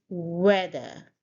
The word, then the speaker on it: weather: So here we stress on the first syllable. It's a 2-syllable word and you say weather. So again, the sound here and in the end there is a soft r sound.